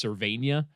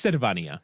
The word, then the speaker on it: Servania: his name is he he insists it's servania let me tell you something buddy it's sarvania okay let me tell you